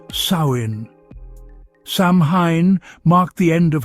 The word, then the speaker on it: Samhain: They called it Samhine, pronounced sin.